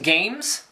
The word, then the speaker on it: GAEMS: I guess it's meant to be pronounced games, like as in spelled wrong, but still would be pronounced games.